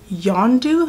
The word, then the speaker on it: Yondu: And I did get really sad in the movie because that guy, Yondu, that's how you pronounce his name, he died.